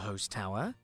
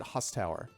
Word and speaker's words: Host Tower: like the mispronunciation issue because everyone else pronounces it husstower and he just pronounced it host tower now if i were just coming across it in the wild and i was just like reading reading reading i would assume it was pronounced host tower but i'm like